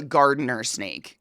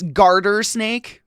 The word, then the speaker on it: garter snake: So it's actually not called a gardener snake. It's just like a mispronunciation. Yeah. It's like, hold on. Yeah, I wanted to make sure it's garter snake, but we all just